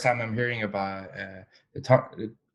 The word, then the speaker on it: Tongva: That is the first time I'm hearing about the Tongba, Tongva. Tongba, right? Tongva, yeah. Okay, I think I'm Yeah, pronouncing it right.